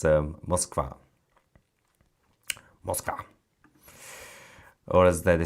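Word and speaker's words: Москва: Russian pronounced Moskva.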